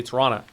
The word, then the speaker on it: Toronto: A lot of people that live in Toronto don't pronounce the T. They say Toronto.